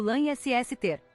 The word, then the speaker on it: Lannister: De acordo com o guia de pronúncia oficial da série de TV desenvolvido para o elenco e a equipe, Lannister é pronunciado Lannister, rima com Lancaster.